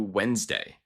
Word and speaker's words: Wednesday: The correct pronunciation is closer to Wednesday.